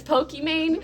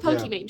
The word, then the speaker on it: Pokimane: It's meant to be Pokémon like the game Pokémon, but I totally understand it reads as Pokimane. When people say that, I don't correct them. Also, I don't want to catch a Nintendo lawsuit so I'll go with Pokimane.